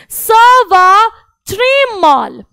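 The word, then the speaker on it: ça va très mal: सवा त्रिमाल, सवा त्रिमाल, स वा ट्रे माल।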